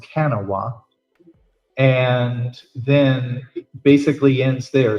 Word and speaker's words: Kanawha: that goes to a street, I believe it's pronounced Kanawha, and then basically ends there.